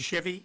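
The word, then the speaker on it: Shivy: say the last name of the last person Chevy sh sh i v y I mispronounced at the last hearing and Mr examiner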